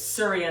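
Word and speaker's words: surya: sun salutations it's called it's spelled in Sanskrit it's surria namaskar that's what you call it in yoga training so it's surria s u y a surria and then namaskar n a m a s k a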